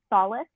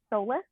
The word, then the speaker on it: solace: um i never said i don't know how to say this word solace soulless i don't think it's solid yeah i think you can say it either way but i say solace um you know during